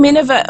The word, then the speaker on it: Minerva: The name Minerva also rhymes with Nineveh, which was an Assyrian capital at the time.